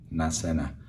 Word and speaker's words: نعسانة: Nasena.